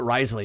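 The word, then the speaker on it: Wriothesley: Risley uh in genin it's spelled the W at the beginning frenchly so like it's like r uh but Risley is a pretty masculine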